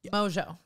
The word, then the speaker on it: Mongeau: need to clarify something how do you say your last name Mojo Tana Mojo's here I